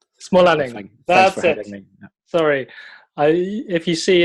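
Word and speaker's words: Smålänning: maker myself well i think it's my name small Alec sorry I if you see it written down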